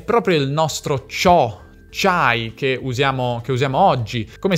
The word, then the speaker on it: c'ho: In questi esempi questa costruzione si scrive proprio così, ci hai, ci ho, ci ha, anche se si pronunciava e si pronuncia ciò, c'hai, c'ha, c'abbiamo, cioè la i non si sente.